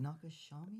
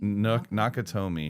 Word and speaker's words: Nakatomi: Nakashami? Nakatomi.